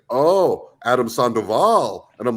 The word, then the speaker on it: Sandoval: no it's not sand they're like Adam Adam sandal like we don't see Adam sandal like oh Adam Sandoval and I'm like yeah you know whatever I